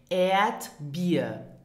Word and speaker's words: Erdbeer: Now listen and repeat after me for the correct pronunciation. Erdbeer.